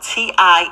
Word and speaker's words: tinnitus: It's spelled T-I-N-N-I-T-U-S.